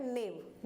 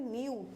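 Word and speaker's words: new: के हिसाब से पढ़ेंगे तो क्या हो गया नेव नेव हो गया लेकिन ये तो गलत है इसको हम बोलते हैं न्यू तो ई के जस्ट बाद डब्लू आ जाए तो उसको हम यू प्रोनाउंस करेंगे यू ठीक है ओके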